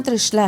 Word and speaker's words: त्रिशला: मेरा नाम बदल जाए, तो मेरा नाम क्या हो जाएगा? त्रिशाला। त्रि-शा-ला, त्रिशला नहीं! यह बदल गया, इसका उच्चारण बदल गया, नाम का मूल अर्थ ही बदल गया।